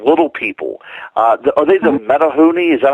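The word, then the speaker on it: Menehune: Are they the Metahuni? Is that how you pronounce it? Yes, they're the Metahuni.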